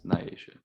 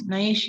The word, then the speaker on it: Nyasha: Nah, It's the extra I. They don't know how to pronounce it. It's Nyasha. Don't pronounce it. Nyasha. And I'm like, no, why are you putting E's in my name? It's not. It's right there. Like, sound it out.